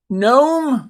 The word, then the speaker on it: gnome: Gnome is interesting.